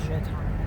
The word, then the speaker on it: Juaitan: And yes, you say it that way, Juaitan. But I go by most times because most people do not know how to pronounce my name. Juaitan. And it is French.